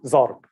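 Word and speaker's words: ضرب: So dad should just come out as d, but it comes out as z. So zarb.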